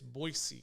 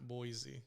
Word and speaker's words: Boise: you know that such brown that's how it's pronounced it's boise not boise oh okay yeah like what's the hatching you